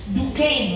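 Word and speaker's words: Duquesne: Ini dibacanya DCIN walaupun tulisnya duesne ya.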